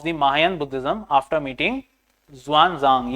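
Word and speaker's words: Xuanzang: Mahayan Buddhism after meeting ज़ुआनज़ांग, ये ज़ुआनज़ांग basically हुएनज़ांग, ठीक है, तो इसका प्रोनाउंसिएशन हुएनज़ांग भी है, ठीक है, याद रखिएगा।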